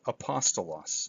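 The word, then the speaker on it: ἀπόστολος: in you pear crema the smooth breathing mark is silent it's not pronounced and that's what we have right here with apostolos so there's the Alpha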